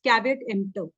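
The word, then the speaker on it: caveat emptor: spoken or written page is asking how to pronounce cavat EMP it's cavat EMP okay in the next class we will be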